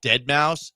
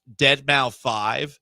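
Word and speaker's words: deadmau5: I used to call Dead Mouse Dead Mau 5 for the longest time.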